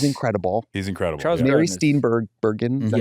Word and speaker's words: Steenburgen: Charles Mary Steenburgen, is that how you say it?